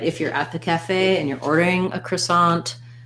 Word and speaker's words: cafe: the word cafe um so that has second syllable stress and you might even see it sometimes written with the stress on the e in american english it's going to be the a diphthong so building from the back fey cafe this is the black cat vowel so in the ipa you're going to see it like cafe so just holding that a longer and being shorter and lighter on the calf syllable and while you're at